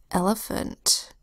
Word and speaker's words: elephant: Next word is elephant, Now this is a 3-syllable word, which can sometimes be hard to spell because there are schwa sounds in the 3-syllable word.